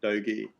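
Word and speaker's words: Doge: are bitter so bitcoin bth um dogi that's how you pronounce it and safe moon so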